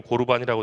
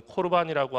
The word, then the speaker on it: 코르반: 오늘 말씀에 보면은 코르반이라고 하는, 우리 그 한글 성경에는 고르반이라고 되어 있지만은 본래의 발음은 코르반이라고 하는 그런 독특한 제도가 나와요.